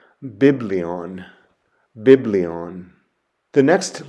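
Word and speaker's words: βιβλίον: the word for book or scroll and it's pronounced biblion biblion the next letter is gamma and Gamma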